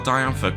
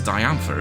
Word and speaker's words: Diantha: Also, I think it is actually meant to be pronounced as Diantha, isn't it? Like Diane, I suppose. But when we first encountered her, I think I called her Diantha.